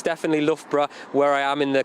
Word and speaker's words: Loughborough: from a test centre in Loughborough, actually, which I did once hear an American pronounce Luga Baruga, and I did quite enjoy that. But anyway, Will, what's going on? Yeah, I've known quite a few people that call it Loga Broga.